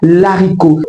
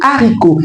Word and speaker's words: haricot: On dira pas l'haricot. Dites désormais le haricot.